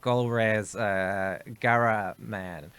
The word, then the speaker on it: Golriz Ghahraman: I'll pronounce the name right. Golriz Ghahraman.